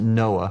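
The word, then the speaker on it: NOAA: I was with the National Oceanic and Atmospheric Administration we pronounced it Noah we had a program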